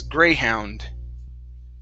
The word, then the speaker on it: greyhound: go okay let's practice the last half of this word how and okay so this is greyhound greyhound there you go